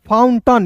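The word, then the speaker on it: fountain: देखिए एफ ओ यू एन एफ ओ यू एन फाउंड टी ए आई एन यहां पे टन फाउंटन यहां पे टेन नहीं पढ़ेंगे दोस्तों ठीक है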